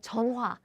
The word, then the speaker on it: 전화: They pronounce like 전화, 전화. They still keep this h sound because actually Korean people we are able to pronounce this h sound as in 전화, 전화. However, in daily life, we don't pronounce each syllable so clearly. So it becomes 전화, 전화.